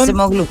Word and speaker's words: Acemoglu: Daron Acemoglu, no sé si se pronuncia bien así, Acemoglu. Simon Johnson. Acemoglu, sí. ¿Acemoglu? ¿Sí? ¿Está bien? Sí.